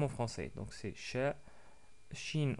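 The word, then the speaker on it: شين: Shin en arabe, c'est l'équivalent de che avec un CH en français.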